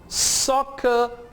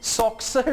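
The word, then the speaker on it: soccer: अब इसे आपने सॉक्सर नहीं कहना या हिक्सअप नहीं कहना, ये एक्सेप्शंस हैं। एक्सेप्शन से मुराद है जहां पे रूल अप्लाई नहीं होता। रूल क्या है? डबल सी की आवाज के एस की होगी। एक्सेप्शन क्या है? दो वर्ड्स ऐसे हैं जहां पे डबल सी आपको के एस की आवाज नहीं देगा बल्कि सिर्फ के की आवाज देगा।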